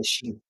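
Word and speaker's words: شين: C'est pas Chat, mais Shin.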